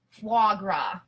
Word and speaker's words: foie gras: It's pronounced foie gras.